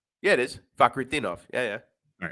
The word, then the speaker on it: Fakhretdinov: Yeah, it is Fakhretdinov. Yeah. All right, Fakhretdinov -150.